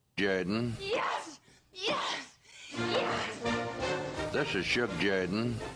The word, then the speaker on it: Jordan: It's pronounced Jordan.